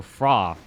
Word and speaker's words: Fhra: am I can see fra the H is silent alright and I I